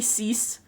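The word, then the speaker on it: six: It's actually cease. You'd pronounce it cease, but they have an accent, so.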